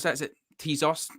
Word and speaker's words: Tezos: um training kit partnership with how do you pronounce that is it tezos tezos yeah yeah it's a new uh manchester united